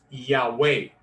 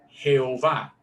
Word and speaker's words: Yahweh: esas 4 letras, YHWH, que ahora los escolares se han dado cuenta, se pronuncia mejor Yahweh, no es Jehová.